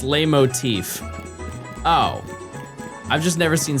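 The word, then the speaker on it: leitmotif: It's pronounced lay motif.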